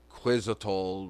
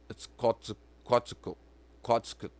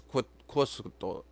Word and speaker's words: Quetzalcoatl: the rainbow serpent, and they say quizzical, but that's not how it's pronounced. It's Quetzalcoatl, and I don't even know if I'm pronouncing it correctly, but I know it's not Quetzalcoatl or whatever. It's Quetzalcoatl, and it's really hard to pronounce because that L and T is like a clock.